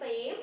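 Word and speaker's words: mustaqīm: ya, tapi langsung sirotol mustaqim, ya. Ini qim, bedakan huruf kaf dengan qaf, ya. Qaf, kaf, qaf, ka, qa, ka, qa, ya. Jadi ini menggunakan huruf qaf, qa. Jadi kok kasro bacanya qim, ya.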